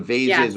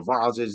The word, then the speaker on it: vases: all the the the vases or the voses depending on how you pronounce it.